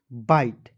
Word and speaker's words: bite: ठीक है, और ITE का उच्चारण दोस्तों आइट के रूप में करेंगे। तो देखिए BITE क्या पढ़ेंगे? बाइट।